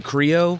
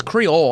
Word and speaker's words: Creole: um that it's like Creo Creo food like Creole is it Creo I thought Creo it's Creole I know it has an L but I think it's pronounced like Creole Creole cre ouch ouch